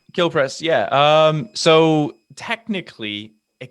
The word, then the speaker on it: Kilprez: i pronouncing that correctly is it kill prez or how is it how do you do it kill press yeah um so technically